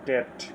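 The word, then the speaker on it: debt: অর্থাৎ করদাতারা যেসব অর্থ যেসব কর প্রদান করে তা hour sixth word is ডেট বলে রাখা ভালো এখানে বি উচ্চারিত হবে না সাইলেন্ট থাকবে আওয়ার সিক্সথ ওয়ার্ড ইজ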